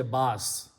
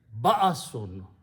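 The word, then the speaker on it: بأسٌ: So pronunciation is ba'asun. You have to give a little bit hamza sound there.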